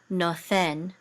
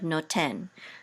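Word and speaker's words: נותן: So in ancient Biblical Hebrew, this would have been nothen instead of noten.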